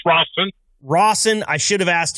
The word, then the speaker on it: Rosen: Please welcome H&M driver Jeff Rosen to the show. Jeff, thank you so much for being here. How you doing? And it's pronounced Rossen.